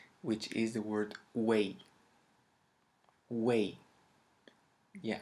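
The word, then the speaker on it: güey: is the word way way yeah i know it sounds very similar to the word way in english but trust me it has a totally totally different meaning now way in uh in spanish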